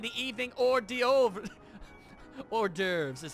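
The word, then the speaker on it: hors d'oeuvres: mine I mean the evening or de over or derves is how it's pronounced or as I always like to call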